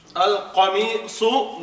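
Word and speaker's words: القميص: are known as, yes, letters which need to be pronounced with the full mouth, like Kha, Sad, Dad, Ghain, Ta, Qaf, and Za.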